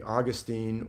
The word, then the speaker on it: Augustine: really influential on me, Augustine or Augustine. More people probably pronounce it Augustine, but in California we would say Augustine.